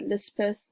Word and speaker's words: Lispeth: She was baptized by the chaplain as Elizabeth, but Lispeth is the hill or fairy pronunciation in the story.